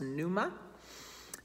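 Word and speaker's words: πνεῦμα: the word is pneuma with a silent p at the front so it looks like pnuma but it's pronounced numa and again it stands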